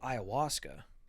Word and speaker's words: ayahuasca: What is ayahuasca? See, look. There Peru. you go. See right there. Ayahuasca, Peru. Yeah. What is ayahuasca? Okay. Wow, I was horribly off. I spelt it IOWASKA. The A is silent.